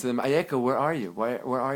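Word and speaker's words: אַיֶּכָּה: in a different form, the same exact letters, but pronounced a little differently. Ayeka.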